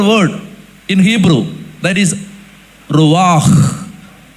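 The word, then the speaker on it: רוח: Wind in Hebrew Bible, they use another word in Hebrew, that is ruach. It has to be pronounced like this, not ruach, ruach, ruach.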